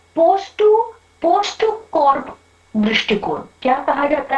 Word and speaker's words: POSDCORP: लेकिन अब ये जो तीसरा दृष्टिकोण है उसे कहा जाता है पोस्ट टू कॉर्प दृष्टिकोण। क्या कहा जाता है, पोस्ट टू कॉर्प।